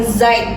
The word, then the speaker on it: Zeit: Jadi misalnya ada kata misalnya Zeit, Zeit, kalau ditulisnya tuh Z-E-I-T, itu artinya waktu dalam bahasa Jerman. Kita bacanya tuh bukan Zeit, bukan Zeit, tapi Zeit, seperti itu. Nyebutnya ke C gitu.